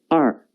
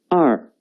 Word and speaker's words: 二: The pronunciation is 二. 跟我读. 二. 二.